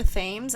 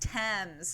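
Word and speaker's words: Thames: look up he dropped him in the river themes and I was like that's kind of a Cool River name is it like the river sticks like in oh it's pronounced TS it's you don't pronounce the T the H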